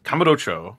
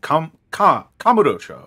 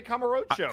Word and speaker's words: Kamurocho: But like the client very specifically wanted it pronounced like that, and I'm like, all right. Well, that's what he wants. Kamurocho. Yeah. Kamurocho. Yeah, right? It's fucking weird because you want to say Kamurocho. Kamurocho. Emphasis on the ro. That's not how they wanted it pronounced, and I was like, fuck, I need to unlearn that.